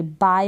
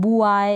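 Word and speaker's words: buy: बी को ब, ठीक है, ब और वाई को आई पढ़ेंगे, बाय हो गया। क्या हो गया, बाय। आपको यहाँ पर यू मिल रहा है, यू के बाद इसको प्रोनाउंस तो नहीं कर रहे हैं ना, बाय प्रोनाउंस करेंगे। अब बुआई इस तरीके से ना पढ़ें, तो बाय प्रोनाउंसिएशन है।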